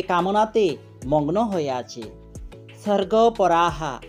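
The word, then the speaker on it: স্বর্গপরাঃ: পার্থ, হে পৃথানন্দন, কামাত মানহ, যে কামনাতে মগ্ন হয়ে আছে, স্বর্গপরাহা, এখানে দন্ত্যস্বর উচ্চারণ স হবে, স্বর্গপরাহা, স্বর্গকেই যে শ্রেষ্ঠ বলে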